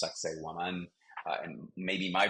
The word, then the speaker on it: Sacsayhuaman: In fact, the guides often make fun of the name of this Incan site because it sounds like sexy woman, in fact, pronounced Sacsayhuaman.